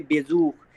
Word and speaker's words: Besuch: तो अब ये कैसा साउंड देगा, खा का साउंड देगा। तो इसे क्या पढ़ेंगे, बेजूख। इसे क्या पढ़ेंगे, बेजूख, बेजूख, बेजूख।